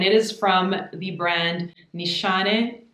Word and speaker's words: Nishane: is from the brand nishane my turkish friend told me how to pronounce that from the brand nissani fan your flames this